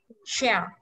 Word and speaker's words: chair: Tiếp theo cái ghế mình không đọc là che mà phải đọc cong môi đọc là chair.